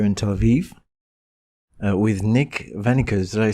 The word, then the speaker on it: Wennekers: to be here in Tel Aviv with Nick Venus. Did I say it correctly Nick? Yeah, that's correct. My name is Nick.